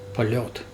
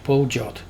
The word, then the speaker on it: Poljot: On top you can see the word written in Russian, and Russian people pronounce that POLET, not POLJOT, POLET. And that red character in Russian language is pronounced yo.